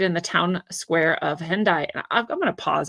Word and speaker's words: Hendaye: Croix de Hendaye. It is like Hyundai. It's funny if you're saying it in the pronunciation that the Romance languages would give it. Hendaye.